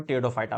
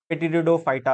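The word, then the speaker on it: Pteridophyta: बघूया, टेरिडोफायटा, इथे P silent आहे बरं का. भरपूर लोकांची स्पेलिंग लिहिण्यामध्ये फेर होतं. पेटिडिडोफायटा असं वाचतात. इट इज नॉट अ पेटिडिडोफायटा, इट इज द टेरिडोफायटा. P silent आहे, पी प्रोनाउन्सिएशन नाही.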